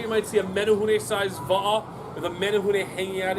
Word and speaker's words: va'a: Ho'opilima, repeat after me, va'a.